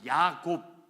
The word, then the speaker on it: 야곱: 저와 여러분이 아는 야곱, 이 히브리식 이름이고요, 헬라식 이름이 야고보입니다. 영어로 제이콥이라고 B로 끝나는 야곱, 이것이 히브리식 발음이고요, 제임스라고 끝나는 이 표현이 바로 헬라식 발음입니다.